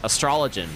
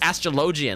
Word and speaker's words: astrologian: and i was like astrologen right astrologen it sounds it sounds right honestly i i still a little part of me still wants to say astrology because it just sounds right it sounds correct right but it's not it's astrologian like what is up